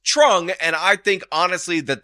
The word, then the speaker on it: Truong: but TR equals TR this man should be pronounced Trung and I think honestly